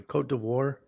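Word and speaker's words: Côte d'Ivoire: i know it's coat it's coast de ivory cote d'ivoire male 1 uh he lives in the ivory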